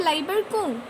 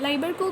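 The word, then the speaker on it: Lieberkühn: और उन क्रिप्ट्स को कहते हैं क्रिप्ट्स ऑफ लाइबरकू। क्रिप्ट्स ऑफ लाइबरकू, लाइबरकू का स्पेलिंग है LIEBERKUHN, क्रिप्ट्स ऑफ लाइबरकू।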